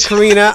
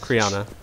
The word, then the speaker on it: Criana: You mispronounced the name again. I said Karina, I just said it very fast.